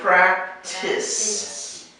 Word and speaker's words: practice: depends on the word so this is a practice it's not so much a t sound no it's practice practice practice practice this is where the emphasis is on the first syllable practice you can practice